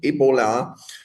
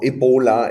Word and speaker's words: Ebola: So very often Ebola or Ebola, it doesn't really matter. It depends on where you are coming from, how you pronounce it, um is dubbed a viral hemorrhagic fever.